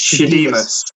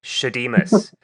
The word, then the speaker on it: Shadeemus: How do I pronounce the name of the group? So it's Shadeemus. Shadeemus.